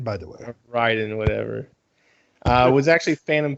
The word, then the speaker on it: Raiden: naked for the first half of it it's pronounced ryden by the way ryden whatever uh was actually phantom pain um and